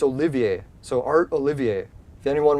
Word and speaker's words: Olivier: now it's gone art Oliver Olivier that's it I think I said Oliver first because I'm horrible at pronouncing French it's Olivier so art Olivier if